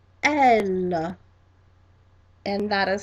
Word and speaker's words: elle: And the second one, she, in English, in French, is pronounced elle, elle, and that is spelled E, D, L, E, E, D, L, E, and that is elle again.